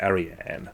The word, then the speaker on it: Ariane: And I just have to apologise, I've just seen that I've been mispronouncing her name. It's Ariane.